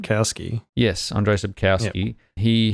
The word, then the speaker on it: Sapkowski: Sapkowski.